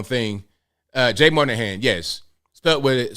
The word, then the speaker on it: Monahan: want to say the wrong thing uh Jay Monahan yes stuck with it spelled with an o m o n a h-a-n